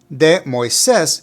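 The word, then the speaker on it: Moisés: just a little tricky the first part of the name is pronounced with the sound Mo also note that there's an accent over the letter e so make sure to put the emphasis of pronunciation right there Moes Mo got it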